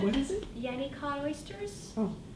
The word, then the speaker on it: Yennicott: It's Yenny Cod Oysters. If you want to know how to spell it, it's What is it? Yenny Cod Oysters.